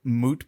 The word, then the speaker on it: moot: Another one that comes to mind is, have you heard moot point, but people say mute point?